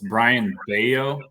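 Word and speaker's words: Brayan Bello: at this uh brian it's brian baio is how you say his name he's from the dominican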